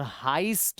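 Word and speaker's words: heist: होती है यह और हाइस्ट इसको पढ़ते हैं हाइस्ट हाइस्ट क्या होता है रॉबरी होती है एक है ना web series money हाइस्ट हाइस्ट मतलब रॉबरी डकैती ठीक है ना इसको हाइस्ट पढ़ा जाता है स्पेलिंग एच ई आई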